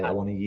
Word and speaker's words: Awoniyi: Awoniyi. Awoniyi. And I think the Scamacca. accent is on the final I. Awoniyi.